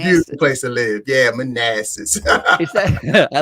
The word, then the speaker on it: Manassas: how do you say is it massa manasseh manassas yeah yeah manassas a good old manassas